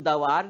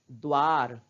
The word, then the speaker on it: द्वार: क्या पढ़ रहे हैं द्वार क्यों क्योंकि द का उच्चारण हम आधा ही कर रहे हैं और आधा क्यों कर रहे हैं क्योंकि देश के नीचे हल् चिह्न लगा है तो बच्चों इस बात